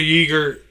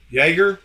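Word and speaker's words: Yaeger: Jaeger? I mean, Jaeger is spelled Y-A-E-G-E-R. Not Jaeger. Jaeger would be Y-E-A. Y-A-E is Jaeger. Like Jaeger bombs.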